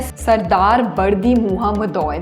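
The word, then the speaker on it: Serdar Berdimuhamedow: Okay, अगले person देखते हैं सरदार बर्दी मुहम्मदोय। That is the correct pronunciation.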